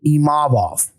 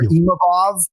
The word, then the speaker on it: Imavov: Yeah, I do hear Imavov more than Imavov. So it's really just about emphasizing that second syllable, Imavov, and not Imavov.